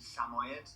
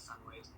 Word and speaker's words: Samoyed: He was a Samoyed dog or Samoid. Samoyed, however you pronounce it. I pronounce it Samoid.